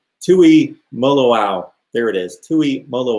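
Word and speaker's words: Tuimoloau: to ohio state and i'm going to have to learn how to pronounce his name i think it's tui moloau there it is tui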